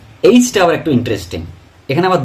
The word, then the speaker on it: H: ব্রিটিশে আমরা বলি, ব্রিটিশ ইংলিশে আমরা বলি এইচ, এইচ, এইচ, এ হর্ষই এইচ, এইচ। আর আমেরিকানরা বলে হাইচ, আই, আই, আই।